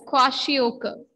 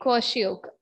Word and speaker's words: kwashiorkor: Pronunciation, that is kwashiorkor. Okay, kwashiorkor.